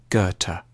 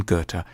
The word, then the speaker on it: Goethe: supposed to say it a safe bet is to start with a hard G on ger and end with a Turk goethe johann wolfgang von goethe has often been seen